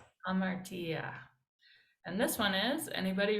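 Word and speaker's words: ἁμαρτία: Make sure to notice the rough breathing marks that make the h sound at the beginning. Ha, ma, Martia. hamartia.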